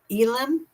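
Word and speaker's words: Elin: Elen I think that's how you say it.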